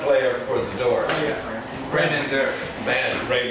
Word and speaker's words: Manzarek: Rimzak, or the piano player for the Doors. Ray Manzarek. Ray Manzarek there, thank you.